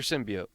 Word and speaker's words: symbiote: Symbiad or symbiote? I say symbiot. They said symbiote. Symbiote. Symbio. It's one of those things. I think either pronunciation is correct.